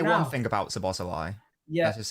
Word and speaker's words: Szoboszlai: I am a Philistine hit that like button when it comes to Hungarian pronunciation. The way you say his name is Szoboszlai. Well, I'm going to say Szoboszlai because I prefer it.